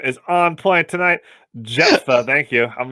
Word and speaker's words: Jephthah: If I'm going to be nitpicky, Japheth was the third son of Noah. Jephthah was the judge we talked about last week. Thank you. Sorry. My pronunciation is on point tonight. Jephthah, thank you.